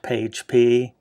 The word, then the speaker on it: PAgP: This is pronounced PAGE-P, or using Link Aggregate Control Protocol, which is LACP.